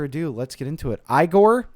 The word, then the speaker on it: Igor: let's get into it igore eigor now it's pronounced igore Igor's theme ladies and